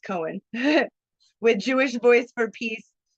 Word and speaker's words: Cohen: Cassidy Cohen, it's pronounced Cohen, with Jewish Voice for Peace, Baltimore chapter added,